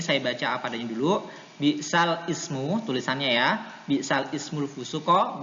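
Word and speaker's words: بِئْسَ الِاسْمُ: Lafadz bi'sal ismu selanjutnya dibaca nakal dengan bi'salismu ya. Tulisannya kan bi'sal ismu ya kan. Tulisannya tuh di Al-Qur'an bi'sal ismu, tapi harus dibaca nakal, yaitu bacanya jadi gimana? Bi'salismu. Bi'salismu ya. Memindahkan harokat ya.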